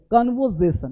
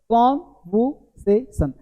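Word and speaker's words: conversation: तो कन्वर्जेशन नहीं, कन्वर्जेशन, यानी जो बीच में आर है ना, इस आर को नहीं बोलते हैं, कन्वर नहीं होता, कॉन्वर, वर नहीं बोलते हैं, कन्वर्जेशन। देखो कॉन्वर्सेशन यानी कॉन्वर्जेशन, कॉन्वर्जेशन देखो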